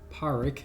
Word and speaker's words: Pádraic: going to go here his name is paric as I found out it's probably the correct Irish pronunciation but I sometimes call him Patrick um so he's a